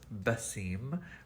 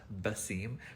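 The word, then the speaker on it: Wasim: actual name is pronounced vasim we don't have the letter v um we we use the letter w instead but it's pronounced bassim but my actual brand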